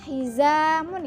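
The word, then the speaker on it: حزام: heiza Mun artinya sabuk dibacanya hizamun ya Keiza pakai hizamun bukan hijrah tapi heiza Mun artinya sabuk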